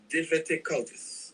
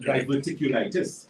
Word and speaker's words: diverticulitis: do you have for someone recently diagnosed with diverticulus if i pronounce that word diverticulitis okay but diverticulitis yes diverticulitis so diverticulitis quickly